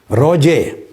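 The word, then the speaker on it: Roget: scientist है Peter mark रोजे लिखने में आर ओ जी ई टी लिखते हैं रोजेट की तरह मगर पढ़ने में पीटर मार्क रोजे यह भी ब्रितानिया का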